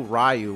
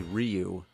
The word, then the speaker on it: Ryu: Yeah, back then, nobody knew how to pronounce the names. It's like in Street Fighter. We didn't know Ryu was actually Ryu.